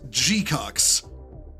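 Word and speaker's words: GQuuuuuuX: It's pronounced G-cucks.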